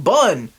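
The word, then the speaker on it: Bunn: duck with a gun Cullen bun that rhymes with gun and I'm losing steam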